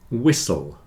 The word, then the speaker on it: whistle: a long Castle sound whistle and listen you hear that in all of these the t is not pronounced especially in Words with